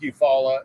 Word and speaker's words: Eufaula: spelled the same way but this is like you follow in uh southeast alabama southwest georgia all right